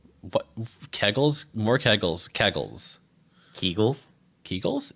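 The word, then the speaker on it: Kegel: Kegles. More kegles. Kegles. Keigull. Keigull. Is it Keigull? That's not Keigull. It's pronounced Keigull.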